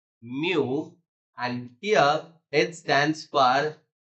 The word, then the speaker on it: mu: a Greek symbol so this Greek symbol we need to pronounce it as Mu and here it stands